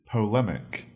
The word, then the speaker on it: polemic: Our second word is polemic. That is spelled P-O-L-E, M-I-C, mic. Actually, I should rather say it is spelled P-O-L, pol, E-M-I-C, emic, polemic.